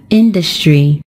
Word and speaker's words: industry: is just on the first syllable and we pronounce it as industry when we turn it into an adjective the